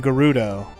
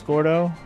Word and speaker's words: Gordo: Well, it could have been a mistake because Gerudo is how Japanese would mispronounce Gordo.